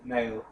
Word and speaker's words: Niall: Honestly, I've known about One Direction for like Neil. The way he says it is Niall.